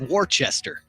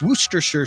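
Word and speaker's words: Worcestershire: wer Shire sauce right looks like Worchester Worchester Shire sauce which I think some people say that's the correct way to say it Worchester Shire sauce but it's werer sauce wer sure and I I don't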